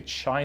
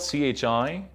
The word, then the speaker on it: chi: does the chi-squared look a lot people say chai squared but it's actually kind right here and so let's write it first it's spelled CH I but Mara it's not chai its Chi square so chi-square test statistic